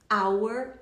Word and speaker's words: hour: Nós falamos hour e honest sem H pronunciado.